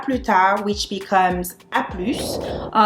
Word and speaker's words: à plus: The same goes for à plus tard, which becomes à plus. The only thing is that you need to make sure you pronounce the final consonants. Otherwise, it won't make any sense and people won't understand you.